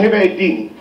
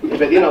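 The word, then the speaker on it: Hepadnavirus: وفي فيروس اسمه هبه الديني. هبه الديني فيروس، بس النطق صح مش كده. اسمه هبادينا فيروس. ما حدش يقول هبه الديني.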